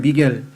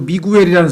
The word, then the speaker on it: Miguel: 미겔. 근데 그 미겔을 또 스페인 말로는 MIGUEL이니까 한국 사람들은 그 GUE가 겔로 발음을 해야 되는데 한국식으로 미구엘이라는 사람들도 미구엘.